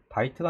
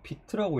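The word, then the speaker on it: Vite: 바이트가 아니라고 비트라고 읽더라고요.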